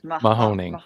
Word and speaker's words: Mahoning: How do you pronounce the name of the river that it crosses? Mahoning.